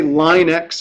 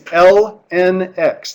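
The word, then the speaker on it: ln x: L and x and we actually say those three letters please don't say line X or something weird like that don't trying to pronounce it it's lnx that's how you say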